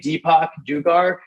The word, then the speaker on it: Deepak Dugar: You can search my name, Deepak Dugar, like Deepak Chopra, but last name Dugar, Dugar.